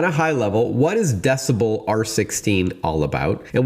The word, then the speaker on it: dcbel: At a high level, what is decibel R16 all about? And we should tell our listeners that decibel is spelled DCB.